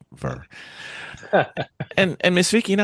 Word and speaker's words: VIR: It's called Ver. Verr. Verr. Some people can't pronounce it, so they spell it vi, but you know. Oh, yeah. If you really look at it, it's Verr.